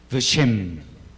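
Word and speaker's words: ושם: Veshem. Veshem. Acordémonos otra vez la regla que vimos hace un rato, que cuando la sheva está en la primera letra, se pronuncia, pero pues no es una E, sino Veshem, Veshem.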